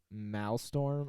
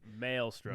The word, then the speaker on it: Maelstrom: before our honorable mentions is the mal storm I don't always pronounce it wrong that's that's the white the white male in me I'm not saying anything Maelstrom Maelstrom okay so this ran from